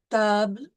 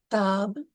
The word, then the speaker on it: table: So the E is generally silent unless it has an accent. So in these words, pomme, table, parle, we see there is